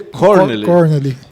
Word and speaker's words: Kornely: Mas a pronúncia, fiquei sabendo hoje, seria Corneli. Corneli. E é alemão.